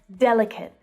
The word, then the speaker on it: delicate: Delicate. Delicate. Listen to the stress pattern there. Our first syllable is stressed, and the last one is unstressed.